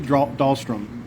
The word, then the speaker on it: Dahlstrom: I'm going to do my very best to pronounce the last name. First name is. Last name is Dahlstrom, D-A-H-L-S-T-R-O-M.